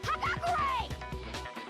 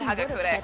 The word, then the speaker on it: Hagakure: In other words, Yasuhiro Hagakure!